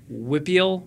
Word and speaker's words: WPIAL: the youth clubs, with Whippeal. Is that how you should WPIAL? Yes. Or Whippeal. Yeah. Whippeal is how someone pronounced it, right?